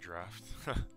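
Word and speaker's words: draught: be the Giant draft yes it's actually pronounced draft um this draft also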